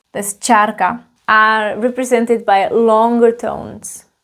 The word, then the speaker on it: čárka: And then we have this line that's called charka, a line.